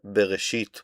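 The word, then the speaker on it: בראשית: In the beginning, God created will be in Hebrew Here for your pronunciation, bereshit bara Elohim.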